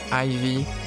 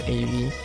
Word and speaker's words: Ayvie: just how just like how I originally pronounced my name Ivy. But then when I started talking with English people, they all pronounced it AV. So I just rolled with it.